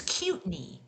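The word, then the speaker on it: Kootenai: And now that I know how to pronounce it, it's Cutney.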